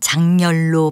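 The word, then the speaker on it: 작열: 이글이글 뜨겁게 타오름이라는 뜻입니다 그렇다면이 단어를 발음할 때 자결이라고 할까요 아니면 작렬이라고 할까요 네 답부터 말씀드리면 니은이 첨가되고 자동동화가 된 작렬로 발음하는 것이 맞습니다 따라서 태양이 자결하다가 아니고요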